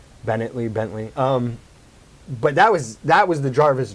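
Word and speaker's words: Paul Bettany: Bentley.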